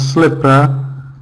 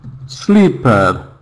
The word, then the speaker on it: slipper: Um, some people might pronounce slipper like sleeper. Sleeper, which is a different word in English.